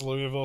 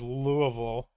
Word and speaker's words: Louisville: that sweet sweet dividend the people I've known from Kentucky have said Louisville Louisville it's horrific no deer's not the